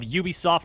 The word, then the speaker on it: Ubisoft: It is actually pronounced Ubisoft. The French.